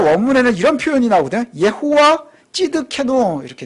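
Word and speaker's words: צדקנו: 예호와 찌드케노 이렇게 돼 있어요. 예호와, 이거 여호와죠. 예호와 찌드케노. 이 찌드케노라고 하는 이 발음이요. 어떤 발음하고 비슷하냐면 시드기야라는 발음하고 비슷해요.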